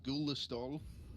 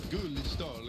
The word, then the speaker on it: Gullestol: Halvor Gullestol. It's not how you say it. It'll kill me if. It's more like Gullestol. It's really Norwegian.